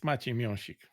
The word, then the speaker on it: Maciej Miąsik: It's Maciej Miąsik for those who would like to hear the actual pronunciation, the proper one.